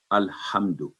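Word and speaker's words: ٱلْحَمْدُ: میں شروع میں الحمد، تو لام پر جو جزم ہے سکون کی علامت ہے۔ قرآن کریم میں کہیں بھی جہاں بھی آپ لام پر جزم دیکھیں اس پر سٹے نہیں کرنا، اس پر رکنا نہیں، آواز لبی نہیں کرنی، یعنی ال یہ نہیں کرنا، بلکہ ال، بس اتنا ساؤنڈ ہے اس کا،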